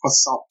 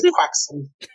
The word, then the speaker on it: croissant: For those of you playing along at home, that's a joke of how Tom Holland pronounces croissant. Croissant. Get his ass. No, he says croissant.